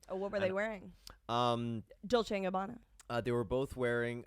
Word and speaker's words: Dolce: Well, it is Dolce. That is how you say it. Yeah. C-E in Italian is a ch.